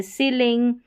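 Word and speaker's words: ceiling: तो यहाँ पर देखेंगे तो ई आई का उच्चारण ई के रूप में होता है, जैसे ये सीलिंग, ये है कंसीट, इस तरीके से।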